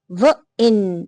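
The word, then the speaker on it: wine: लेकिन जैसे ही मैजिकल इ यहां पे लगता है तो क्या बन जाता है? वाइन। आई का साउंड वाइन।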